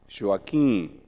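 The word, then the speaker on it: Joaquim: i called him and they called him me joachim joachim because he could not pronounce joaquin as we do in portuguese the first period of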